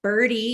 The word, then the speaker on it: BIRDe: It's just like birdie, like a little birdie, except it's missing the I. So it's just bird and then little e, and the little e is for electric.